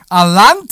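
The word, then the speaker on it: Allanté: Alante, right?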